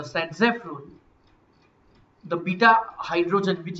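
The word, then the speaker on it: Zaitsev: तो according to सेटजेफ rule, spelling है Z7 लेकिन उसका प्रोनाउंसिएशन होता है सेटजेफ। ये है इसका प्रोनाउंसिएशन सेटजेफ।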